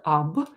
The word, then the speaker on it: об: We pronounce ab. We write it with o.